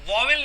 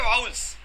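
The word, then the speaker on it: vowel: इसको हम वोवेल नहीं कहते, इसको कहा जाता है वाउल्स।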